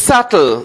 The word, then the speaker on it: subtle: say this it's subtle the b is silent next it's a yacht the ch h are silent right in this How do we pronounce it?